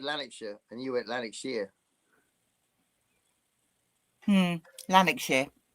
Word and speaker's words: Lanarkshire: a long history of war and power in Lanarkshire. Wow. That sounds good. Yeah. I love those old 1930s travel guides. How do you Brits both say Lanarkshire? Lanarkshire. Yeah. Although I just said Lanarkshire and you went Lanarkshire.